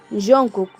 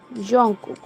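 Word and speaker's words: 정국: Pero en Corea la pronunciación correcta es como una Y. Jungkook. Jungkook.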